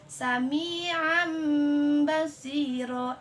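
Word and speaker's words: سميعا بصيرا: Tanwin bertemu dengan huruf ba. Cara bacanya Sami'am basiro. Nah, jadi harus yang tanwin itu berubah menjadi ba gitu. Sami'am basiro.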